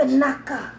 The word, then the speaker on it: espinaca: Espinaca.